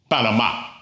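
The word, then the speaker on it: Panamá: First word, Panama. Well, it ends in a vowel, but the stress is on the last syllable. So it needs an accent mark to tell us that.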